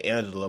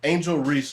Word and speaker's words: Angel: I don't know why I always say it wrong I always want to say Angela but the uh the an Ang think I spelled it wrong angel angel Reese not playing now it